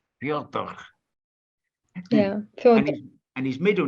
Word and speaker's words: Fyodor: It's Fedor. It's Fedor. Fyodor.